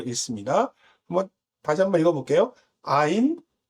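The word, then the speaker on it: עין: 앞에 라메드라고 지팡이 모양은 L이라고 하면 얘는 이제 R이라고 하는 모양을 갖고 있어서 래쉬라고 읽습니다. 한번 다시 한번 읽어볼게요. 아인, 페, 사데, 코프, 래쉬라고 하는 단어들입니다.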